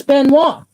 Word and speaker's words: Benoit: You know, Chris Benoit, is that how you say it? Yeah. Chris Benoit.